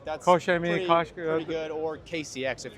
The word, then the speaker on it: Koch Chemie: Do I pronounce it correctly? Koch Chemie, that's Koch Chemie, pretty good, or KCX if you want to keep it simple.